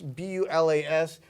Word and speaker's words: Bulas: Pronounced different than it looks to us in the U.S. It's B-U-L-A-S. But you say that Bulas is what I understand.